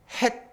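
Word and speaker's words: ח: 내일 모레 이제 똑같은 글씨인데 숨구멍이 없는 딱 막힌 그것은 발음 자체가 된 발음이에요. 헷.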